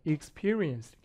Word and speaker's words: experience: experience, experience가 아니라 experience, experience 강세 뒤에 있어요.